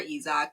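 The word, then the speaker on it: Isack: You're right, that is how you pronounce his name. I remember Isaac crashing on the formation lap and him being taken out.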